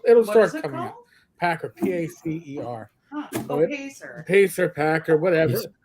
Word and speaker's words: PACER: should be a summary on uh was it Packer the uh Federal uh yeah so it'll it'll start coming out Packer p-a-c-e-r huh Pacer pack or whatever dude I see